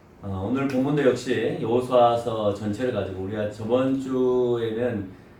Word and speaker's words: 여호수아: 일에 대한 설명을 오늘 여호수아를 통해서 하고 있다라고 하는 거예요. 여호수아는 히브리어로 에호바라고 합니다. 또 다른 말로 하면 에호수아라고 얘기합니다. 여호수아하고 비슷한 발음이죠.